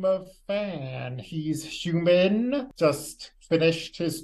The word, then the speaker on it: Fan: And is it Fan, like F-A-N? F-A-N. Fan. Excellent. Just want to make sure I was pronouncing that correctly.